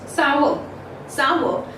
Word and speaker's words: sour: This R in British English is silent, whereas if we talk about the American English, then R becomes a little prominent in the American English, and it is pronounced as sour. Lemon is sour.